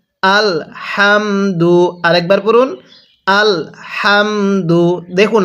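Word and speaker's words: الْحَمْدُ: হাম হ্যাঁ পড়ুন আল হাম দাল পেশ দু আল হামদু আরেকবার পড়ুন আল হামদু দেখুন আমি কিভাবে পড়ি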